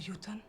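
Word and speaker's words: jötunn: The film actually nails the pronunciation. One of the yoten.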